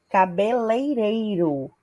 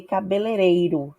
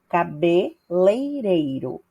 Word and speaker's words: cabeleireiro: exemplo trouxe aí a palavra cabeleireiro que é a forma correta de pronunciar enquanto que algumas pessoas é tendem a falar ou escrever cabelereiro sem ue então a forma correta é a segunda opção cabeleireiro ok e a outra forma